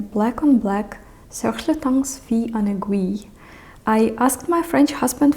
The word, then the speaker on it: Fille en Aiguilles: you see written black on black, Serge Lutens Fille en Aiguilles. I asked my French husband for the correct pronunciation of this scent, and it is Fille en Aiguilles.